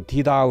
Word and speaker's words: TIDAL: ，或者有人读佢做 Tidal 嘅。不过咧，其实佢嘅正确嘅德文发音咧，应该叫做 Tidal 嘅。